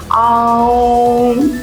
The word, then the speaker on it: AUM: अब दोनों ओम है, लेकिन दोनों ओम के उच्चारण में फर्क है। Okay. Okay, it spells like AUM हाँ, and जो OM, राइट? तीसरी अंक यानी जो थर्ड आई चक्र का है AUM, मतलब आम, ये प्रोनाउंसिएशन है।